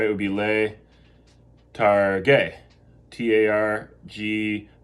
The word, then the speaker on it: targhe: It would be le targhe. T-A-R-G, let's see if you remember how you keep the hard G there. T-A-R-G-H-E, letarghe, va bene.